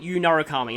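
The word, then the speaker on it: Yu Narukami: to abbreviate it I just have to call him you nuruk Kami but I'm going to be pronouncing it y narukami like it should be so don't worry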